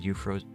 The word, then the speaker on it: Euphrosyne: And yes, I know how it's spelled. I actually looked up pronunciation because it's something that I like to know about with certain things, and this is a Greek goddess named Euphrosyne.